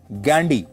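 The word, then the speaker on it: Ghandy: फिरोज गांधी के पिता का नाम था जहांगीर फरदून गैंडी। अंग्रेजी में वह गांधी नहीं गैंडी लिखते थे जिसकी स्पेलिंग है जी एच ए एन डी वाई गैंडी।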